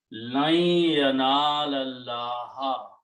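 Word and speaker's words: لن ينال الله: Lam of yanala will combine with this lam, and this alif will not be pronounced in between, so it becomes hamzatul wasl. So the tajweed became lan yanala Allah. Okay, meaning will be never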